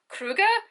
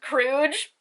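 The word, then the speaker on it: kruge: bad pronunciation skills but in the show they're talking about ketterdam money being kruga and i always thought it was crooge i know i know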